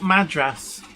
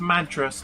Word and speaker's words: Madras: Well, it's spelt Madras, as in the curry, Oregon. Wow. Pronounced Madras, not Madras.